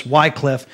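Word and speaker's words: Wycliffe: in America of course W Cliffe but I use the pronunciation that the Brits use I think and uh John Wickliffe is the morning star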